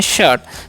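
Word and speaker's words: shirt: अ कब होगा जी तो यहां पर एस एच आई आर टी तो इसे हम क्या पढ़ते हैं शर्ट शर्ट मतलब मतलब क्या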